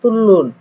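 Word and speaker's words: 뚫는: এখানে নুন একটা পার্টিকেল যুক্ত হয়েছে, কিন্তু উচ্চারণ হচ্ছে নিচের রিউলের কারণে উপরের নিউনটাও রিউল উচ্চারণ হচ্ছে, অর্থাৎ লয়ে লয়ে তুলুন।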